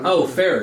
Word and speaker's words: Farrer: Farrer, yeah.